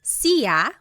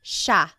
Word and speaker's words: siya: It looks like it should be pronounced siya, but it's actually pronounced siya, siya.